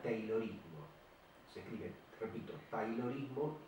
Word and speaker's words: Taylorismo: Y un método se escribe con A, Y, Taylorismo, pero se pronuncia Taylorismo.